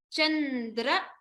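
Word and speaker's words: चन्द्र: Vichintita, padam, taruna, chandra, stress on the dra here. Chandra, makutam.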